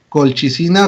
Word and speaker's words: colchicina: La colchicina o colchicina. Recuerden que la CH muchas veces en este contexto de latín se pronuncia como una K, del español.